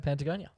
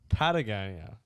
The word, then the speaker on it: Patagonia: a lot of questions i'm pretty sure it's pronounced patagonia yeah what have i been saying there's no n what have i been